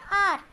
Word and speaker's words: hour: चौथा वर्ड है आर, HOUR, इधर विच एच है जिहड़ा बच्चों साइलेंट है, आर घंटा।